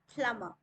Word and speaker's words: plumber: It's not plumber, we will say plumber.